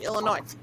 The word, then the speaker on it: Illinois: you you're not alexa when you say louisville you don't have the s in it it's not really you can't hear it right look like illinois well my last name